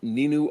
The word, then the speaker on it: Ninu: glorious dead trees and we've also got um nin of the dinosaurs am I saying that right